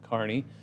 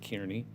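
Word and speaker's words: Kearney: it's not it's shadron Carney you hear you'll hear the national news pronounce it Kierney I don't know there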